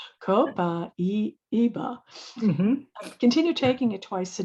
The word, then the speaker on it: Copaiba: Copabaya, I don't know how to pronounce it. Copaiba. You say it, please. Copaiba. Copaiba.